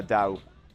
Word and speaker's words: Dao: what is your name my name is uh Dao Dao da how do you spell it d a o okay thank you so